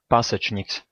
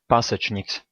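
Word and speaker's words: Pasečņiks: Andres Pasechniks. Andres Pasechniks. Andres Pasechniks.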